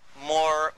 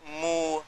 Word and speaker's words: Moor: What connects it up is even the word Moor, because it's pronounced differently in different parts of Africa. And they call themselves Moor, Mu, Mur.